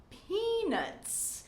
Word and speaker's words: peanuts: It's very important to pronounce that last tss sound, or else this will sound like a man's private part in English. So, peanuts, peanuts. Make sure that your tongue is right behind your teeth and you are forcing out plenty of air to make that sound. Tss, tss, peanuts.